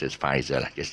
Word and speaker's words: Pfizer: not perfect is it the p silent so uh it's a pronounces but i know it's pronounced as faizal i just say f